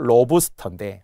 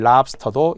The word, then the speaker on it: 랍스터: 로브스터 여기 보이죠. 이 원리에 의하면은 을을 적어서 로브스터인데 어색하니까. 실제 발음과 좀 다르니까. 그래서 많이 쓰는 랍스터도 인정했다고 했습니다.